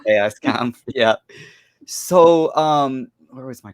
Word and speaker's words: Chaoskampf: You said as far as the Chaoskampf is concerned, or Chaoskampf, whatever, when you don't know whether to anglicize it or just keep it German way.